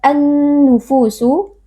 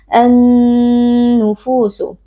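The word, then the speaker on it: النُّفُوسُ: An-nufusu alif lam asy-syamsiyah, karena ada alif lam yang bertemu dengan salah satu huruf syamsiyah yaitu huruf nun. Cara membacanya alif lamnya kita idghamkan atau kita masukkan ke dalam huruf nun.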